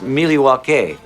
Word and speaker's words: Milwaukee: indian name yes pete it is actually it's pronounced miliwake which is algonquin for the good land i